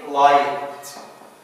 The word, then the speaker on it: light: Like in light. ما بننطقش الجي والـ H.